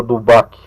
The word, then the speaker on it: D'Holbach: Tem alguns grupos, a questão, um autor chamado Dubac, se escreve lá de Roubache, né? Mas se fala Dubac, o Barão de Dubac, escreveu esse livro aqui, Sistema da Natureza, no século XVIII.